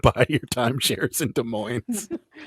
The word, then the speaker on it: Des Moines: buy your timeshares in des moines isn't it des moines des moines yeah this is my bad inspires love to pronounce the s at the end of things yeah they're